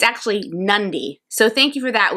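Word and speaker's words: Nadi: review preview and normally helps us with the pronunciation we were saying naughty of the city but it's actually nundi so thank you for that we always appreciate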